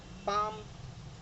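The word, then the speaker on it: palm: pronounce नहीं होगा, like काफ, CALF, लेकिन एल साइलेंट है, सो it's calf, half, पाम, would, should, could, Fock, York, इन सब में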